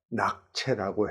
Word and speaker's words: 낙채: 근데 그 병음, 그 중국어를 영어로 표기한 발음을 보면 로티라고 하는 것을 봐서 낙채라고 해야 옳을 듯 싶습니다.